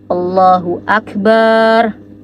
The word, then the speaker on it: Allahu Akbar: disclaimer kalau ini salah allahu akbar allahu akbar allahu akbar Nah maka kalau misalnya teman-teman menemukan ada Imam atau ada seseorang yang membaca kalimat Allahu Akbar dan bnya itu dipanjangin maka ini salah jadi harus dikoreksi teman-teman